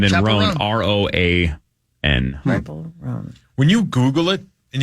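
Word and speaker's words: Chappell Roan: I think it's Chapel. Is it really? Yeah. Chapel Oh, okay. Roan. I believe that's right, Chappell. like Dave two L's. Chappelle. Yeah, that's how it's spelled. But Chapel. and then Chapel Roan, Roan.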